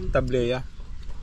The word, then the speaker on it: tablea: na nilagyan ng gatas tablia an taang pronounce na tableya tablea hindi tableya arte mo want to